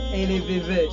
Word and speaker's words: Elevevede: Mais en fait, ils le prononcent pas le D ou le 2 à la fin. Ils disent LVV ou LVV et tu entends limite le D à la fin.